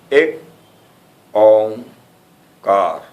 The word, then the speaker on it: Ek Onkar: Its pronunciation is like this: Ek Omkar Sat Nam.